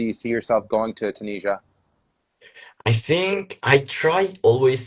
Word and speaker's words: Tunisia: yes, Tunisia.